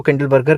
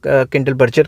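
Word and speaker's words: Kindleberger: तो नर्क्स एंड किंडलबर्गर, किंडल, कुछ लोग इसको किंडलबर्गर कह देते हैं, कुछ लोग किंडलबर्जर कह देते हैं, ठीक है।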